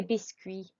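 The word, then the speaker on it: biscuits: is a qui sound c-u-i-t-s is a qui sound let's try one more time de biscui good okay donuts now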